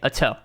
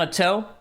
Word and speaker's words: Ato: So I'm going to say Ato. See, you can't correct me on Ato because I've confirmed it with him.